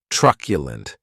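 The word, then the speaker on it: truculent: And this word has three syllables and the stress is on that first syllable.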